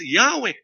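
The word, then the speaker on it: Yahweh: thew consonantal as Whe the original pronunciation of which is well attested as Yahwe volume 5 page 743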